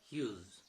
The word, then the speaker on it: Hughes: The spelling is Hughes, the pronunciation is Hughes.